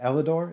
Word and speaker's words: Elidor: Is it Elidor? Is that how you pronounce it?